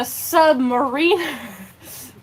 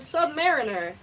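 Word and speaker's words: Sub-Mariner: I was like oh it's a Sub Mariner I was never like oh it's the Submariner where do you get Submariner from I think it's also how you pronounce um the Seattle Mariner it's it's it's spelled pretty much the same Mariner and so yeah the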